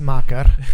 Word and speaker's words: Tessmacher: Tessmacher. Yes. Macher. German name. As Albert is pronouncing it.